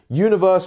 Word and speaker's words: universe: So universe, once again, has this J-U sound, you, is so subtle. So practice that. You. It's like you don't even hear it. Until learning how the transcriptions worked, I didn't even realize that we were saying this really short J sound.